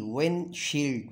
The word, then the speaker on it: windshield: h i l d windshield when Shield when Shield I'm uh clutching the D or I'm silent I'm going to uh silent the D as uh to particularly